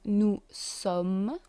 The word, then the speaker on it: nous sommes: We have, for the first person, nous sommes. We don't pronounce the S.